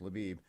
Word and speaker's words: Lviv: I can't say it it's pronounced luab it used to be now it's pronounced laiv uh a white flag